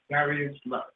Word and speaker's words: Darius Lux: Darius Lux.